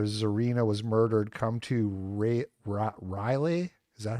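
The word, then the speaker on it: Raleigh: Come to Ra Riley. Is that how you say it? Rally.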